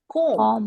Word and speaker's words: comb: B is silent. Comb.